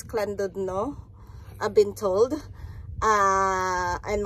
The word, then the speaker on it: Llandudno: ah ang plan namin Today is just go to land No but it pronounce as clud no I've been told ah